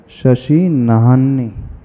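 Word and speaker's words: शशिनाह्नि: शशि नाहन्नी है कि नान्ही है? क्या पढ़ते हो? ह पहले है कि न पहले है? ना के बाद ह पहले है ना। शशि नाहन्नी।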